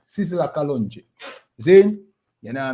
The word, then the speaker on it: Sizzla Kalonji: Sizzla Kalonji.